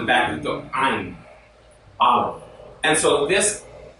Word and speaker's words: Aleph: is an ox head, the Aleph is a silent letter. So everyone say Aleph. Aleph. Now originally this is made with a guttural sound, so in the back of the throat it would be Aleph.